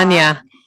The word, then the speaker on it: Anya: Anya.